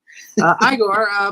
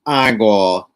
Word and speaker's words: Igor: It's pronounced Igor. It's in the village they told me it was Igor. Well, they were wrong, weren't they?